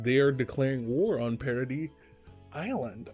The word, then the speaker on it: Paradis: Because they are declaring war on Paradis Island. I forget, it's pronounced Paradis or Paradise. I think it's Paradis.